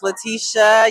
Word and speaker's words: Laticia: Hey y'all, it is the Pull Up Experience Hey everybody, my name is Letitia. You guys can follow me on Instagram at. Letitia is spelled LATICIA_Pittman.